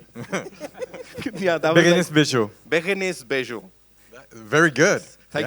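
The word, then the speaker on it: Bejo: bags bags bags या या बस बेजो बेगस बेजो very good thank you so much ladies and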